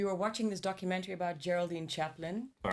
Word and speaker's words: Geraldine: Geraldine.